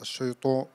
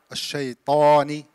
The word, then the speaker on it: الشيطان: Don't close your lips in shayto, not الشيطو. الشيطاني.